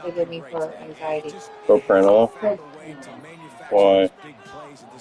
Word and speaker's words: Propranolol: pronounce that medication that you love to give me for anxiety? Propranolol.